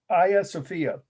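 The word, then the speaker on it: Hagia Sophia: go this is the uh aya sofia that's how you would say it correctly but if you're from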